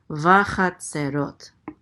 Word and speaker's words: Vachatzerot: Vachatzerot. Accent on the last syllable.